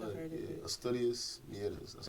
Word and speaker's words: Mieres: Asturias, Mieres.